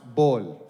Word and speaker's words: Paul: Also, there's no P in Arabic, so my name is pronounced Bol.